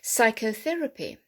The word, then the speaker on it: psychotherapy: funny word isn't it with a p there silent p psychotherapy chlorine chlorine charisma who's